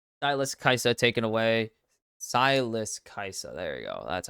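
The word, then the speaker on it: Kai'Sa: here sure um syus kaisa taken away syus kaisa there you go that's how you say it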